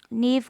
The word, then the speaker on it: knave: नेव का KNAVE, इसमें के साइलेंट है।